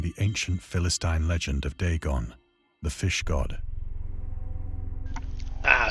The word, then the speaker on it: Dagon: ancient Philistine legend of Dagon, the fish god. Ah, so it is Dagon, not Dagon. I've been saying it wrong the whole fucking time.